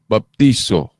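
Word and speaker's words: βαπτίζω: To ang pag-pronounce ba, dili man po na bautismo. Istrikto to baptizo.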